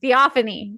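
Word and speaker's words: Theophanie: me how to say it theophony theophony theophony theophony there we go theophony um the only dragon that they wanted was or that she kept alluding to was in Darna.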